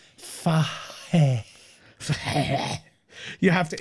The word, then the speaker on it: Fahey: Okay, I'll do this phonetically for you. Yeah. It's Fahey.